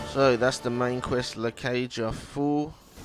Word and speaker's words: La Cage au Fou: that's the main quest La Cage a fool completely diff that's how you say it got a new quest